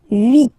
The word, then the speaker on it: huit: And here, final T is pronounced, so huit, huit. Remember in French, this H letter here, okay, doesn't exist phonetically, so we don't really pronounce it, okay? So if you listen carefully, you will only listen or hear these vowels at the beginning of the word. Huit, huit, okay?